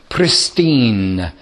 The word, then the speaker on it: pristine: The capitalists, they're called in textbooks and exam papers, they're called the pristine capitalists. Pristine or pure capitalists. Pristine means absolute, if I can spell it. It's like Christine, but with a P.